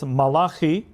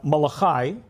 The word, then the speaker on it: Malachi: There's a verse in one of the prophets Malahi uh Malachi for those of you who pronounce it in English.